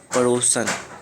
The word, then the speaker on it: पड़ोसिन: धोबिन ने अपने पड़ोसन, पड़ोसन नहीं होता पड़ोसिन, है ना, पड़ोसिन के बच्चे को प्यार करने लगी।